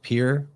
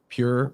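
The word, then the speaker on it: πῦρ: And in Greek, the word for fire could be pronounced like pir or pure or pur.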